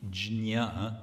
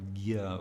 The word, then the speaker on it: jñā: So the root is jñā, or gya, we say in Bengali pronunciation, which is to know.